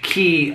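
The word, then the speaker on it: Quay: really obsessed with key it's spelled q-u-a-y but it's pronounced key and it's out of australia um uh key uh what do you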